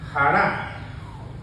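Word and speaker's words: χαρά: gozo en griego es Jara Jara con j con acento en la a Jara pero Qué significa hará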